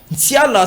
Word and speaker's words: Nsiala: Nsiala, ça s'écrit avec N, S, I, A, L, A.